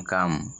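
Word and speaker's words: calm: এ double S গ্রাস এরপরে এল থাকে তবে এল এর উচ্চারণ হবে না যেমন পি এল এম পাম সি এ এল এম কাম আই যদি কোন ওয়ার্ডের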